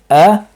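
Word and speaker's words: أعوذ: Notice how the lips stay out after the pronunciation of the hamza. A'udhu. The lips do not return. They stay out.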